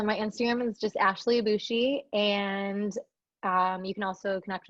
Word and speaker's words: Abboushi: It'll be in the show notes, but it's Abboushi. Abboushi.